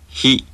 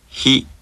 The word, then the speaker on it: ひ: は、は、は、はい、箱、八、ひ、ひ、ひ。 This syllable sounds very similar to the English word he, but the Japanese sound is more clipped and is produced with more friction.